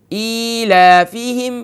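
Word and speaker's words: إيلافهم: زبر لا، ای لا، حمزہ کھڑی زیر ای، لام کھڑا زبر لا، ای لا، فا زیر فی، ایلافی، ہا میم زیر ہم، ایلافہم۔ دوسرا کلمہ رحلہ ہے،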